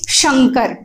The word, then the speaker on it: शंकर: ठीक है, तो इन दोनों शब्दों को ध्यान में तो जरूर रखिएगा कि संकर, इसका उच्चारण हम बोलेंगे संकर और इसे बोलेंगे शंकर। ठीक है, ये तो बात हो गई, आपकी परिभाषा भी आपने देख ली।